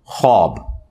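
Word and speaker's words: خواب: हो शक्ति है बुखार यह ख्वाब नहीं पढ़ा जाता वैसे उर्दू में चल भी जाता है लेकिन यह लव है ख्वाब तो वह उसमें फिर साइलेंट हो जाति है तो यह जो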